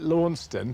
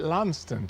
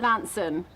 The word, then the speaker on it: Launceston: We call it Launceston, but the locals call it Lanston. That's right, Lanson. Lanson. Yeah, you kind of miss out all the C's and T's, so it's Lanson, Lanson.